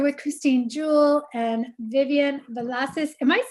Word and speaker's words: Villacis: You're here with Christine Jewell and Vivian Villacis. Am I saying it right? Yeah, you're like the first person that actually said it right. Yay. That requires a tongue roll.